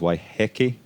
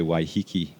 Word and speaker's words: Waiheke: it's of course a mai word the mai pronunciation is why hecky hey nine times out of 10 you'll hear people say why hii and so which is what I said okay